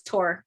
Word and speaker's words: Thor: Yeah, I'm Uh, kind of a purist in my I pronunciations. love it. I love Like it. it's not Thor, it's Tor.